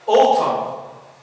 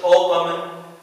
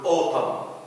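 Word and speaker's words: autumn: أوتم، نطقت الإم ولكن لم أنطق الإن، ما بنقولش أوتم، بنقول أوتم أوتم and كولم.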